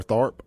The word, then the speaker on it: Tharp: Here in the studio with me, we got Hunter Sartain, owner of Guns and Gear, and Tharp, owner of Synergy Training Group.